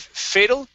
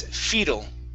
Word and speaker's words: fetal: Okay, all right, and your last one here, instead of fatal, this is fetal.